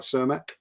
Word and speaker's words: Cermak: Am I pronouncing this right? Cermak? That's right.